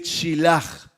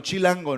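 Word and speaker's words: שליח: Se dice chilaj. No chilango, ¿no? Debe ser estos chilangos. Chilaj. Chilaj. No chilango, no, chilango no. Casi como chilango, pero chilaj.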